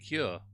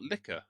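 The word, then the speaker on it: liqueur: How I pronounce pronounce lure. What? It's not liquor, is it? Oh, some people say liquor, don't they? But they say that for um spirits.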